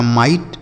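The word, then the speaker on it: might: एम आई जी एस टी तो एम से एम आई से पढ़ेंगे बच्चों माई क्या पढ़ेंगे माई और जी एस टी को क्या पढ़ेंगे ट तो यही लिखा माइट ठीक है देख रहे हैं ना सही उच्चारण है ना तो जी एस टी को आपको क्या पढ़ना है ट पढ़ना है केवल और केवल ट लिखा है माइट आगे लिखा है टी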